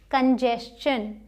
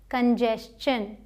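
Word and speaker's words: congestion: इसी तरीके से ये कंजेशन कंजेशन। ठीक है? तो ये एक्सेप्शन भी आपने समझ लिया। अब कहीं टी आई ओ एन दिख जाए शन बोलिए। उससे पहले एस हो तो च बोलिए।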